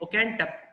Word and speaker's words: Oakentubb: तो पहला कैरेक्टर जो है दैट इज लेडी, उसकी प्रोनाउंसिएशन कुछ इस तरह से है ओकेंटप, ओकेंटप, मिसेस ओकेंटप, ठीक है।